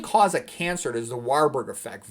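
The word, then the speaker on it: Warburg: The main cause of cancer is the Warberg effect. Varberg effect you can pronounce it.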